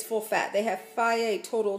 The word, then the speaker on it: Fage: This is Fage. It's pronounced Fage. It's spelled F-A-G-E. Some people call it Phage, but it's Greek yogurt.